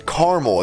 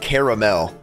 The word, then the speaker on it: caramel: two one go foreign it's caramel it's not caramel if you say it like caramel you just like you